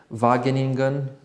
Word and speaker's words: Wageningen: He studied economics and consumer science at I hope I'm gonna pronounce it good, Wageningen.